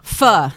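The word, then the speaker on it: phở: whole faux thing, but it's not really pronounced faux, right? No, Don't worry about it. It's all good. It's pronounced how? Pho. Pho. Yeah. Like F-A. Pho. Yes. Like if you got a speech impediment and you're trying to say fur. Yes. So it's not faux.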